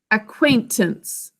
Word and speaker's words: acquaintance: acquaint ants three syllables that first syllable ack we think to spell a silent c there so ack is ack basic code next is quoi who remembers what makes the a sound acquaintance anybody remember what phonogram